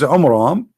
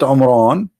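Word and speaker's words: Amram: So Muhammad, he could not even copy the name correctly from the Bible about the father of Moses, which is Umram, not Umran. Imram. Wrong pronunciation, wrong name.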